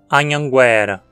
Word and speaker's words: Anhanguera: agora chegamos nomes bem brasileiros vindos do Tupi Anhanguera ou será que é Anhanguera a palavra Anhanguera existe no português com essa pronúncia né como uma paroxítona Anhanguera é a